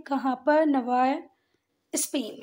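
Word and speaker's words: Navarre: वाली है तो जरा इस बात को ध्यान रखना कि इसको सिर्फ नवा पढ़ते हैं यह डबल आरई को छोड़ देते हैं क्या पढ़ते हैं सिर्फ नवा जबकि अगर आपको भै आप बाद में स्पेलिंग ध्यान नहीं आए तो नवारे ही पढ़ लो आप पर बाकी पढ़ते कैसे हैं इसको नवा ठीक है तो फ्रांसिस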